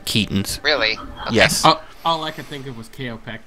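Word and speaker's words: Keoghtom's: Yeah, it's called Kaotorn's ointment. I think it's Keaton. Holmes. No, it's pronounced Keaton's with a long E. Keaton's.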